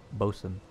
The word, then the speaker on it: boatswain: by the way it's it's spelled boatswain but it's actually pronounced bosun just so that's a